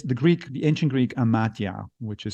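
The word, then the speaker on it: amathia: stupidity however is the Greek the ancient Greek and matya which is spelled a-m-a-t-h-i-a and it really means and wisdom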